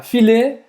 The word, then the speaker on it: filet: E a pronúncia é filet. Filet. Né? Porque a gente fala filé.